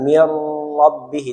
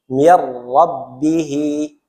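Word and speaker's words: مِن رَّبِّهِ: rbihi min rbihi tulisannyabihi dibacanya mirbi Mir tidak digunahkan tidak boleh ada penekanan mirbihi tidak mirbii dia cukup dileburkan saja maka di beberapa Quran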